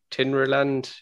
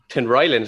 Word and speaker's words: Tinryland: is it been benicary tinryland is that right benefiting the island yep tim ryland's how you pronounce it isn't it i know i've driven